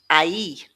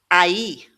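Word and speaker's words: aí: But when we have an accent on this i, we're splitting the two sounds into individual signs sounds, an a and an e. a e So, it becomes a e.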